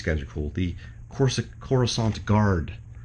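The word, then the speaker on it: Coruscant: are cool the cor corusant guard I always used to say corant cuz when you know before you actually heard it pronounced by anybody when you read it in a book or something it was like yeah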